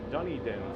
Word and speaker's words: Dunedin: look right across the street okay so you pronounced it here it's done Dunedin Florida okay might want to throw up they're